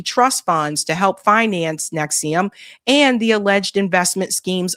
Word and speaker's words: NXIVM: Many knew that Edgar Brothman's daughters were involved in a secretive organization called NXIVM, pronounced Nexium, a group that he himself had openly referred to as a cult.